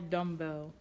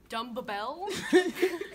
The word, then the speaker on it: dumbbell: Spell dumbbell. D-U-M-B-E-L-L. It's two B's. Dumbbell? Dumbbell. Dumbbell. When you say dumb, the B is silent, correct? And then bell.